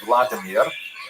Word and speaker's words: Volodymyr: What's especially important in its history is the conversion of one of its leaders, Volodymyr, pronounced in Russian Vladimir, shown here in a statue overlooking the Dnipro River that runs through the middle of Kiev.